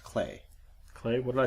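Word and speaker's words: Klei: I'm gonna correct you it's actually pronounced clay clay what did I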